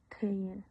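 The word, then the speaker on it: Thiền: En vietnamita decimos teen y en japonés c.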